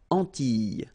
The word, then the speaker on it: Antilles: So here it's quite interesting because, well, you've got this E and then double L, S. Okay? So final S and E, really you don't pronounce them. So you get this E sound. Antilles.